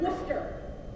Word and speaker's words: Worcester: dojo and my college which is spelled or pronounced Worcester or Worcester for the locals not Rochester this presentation is created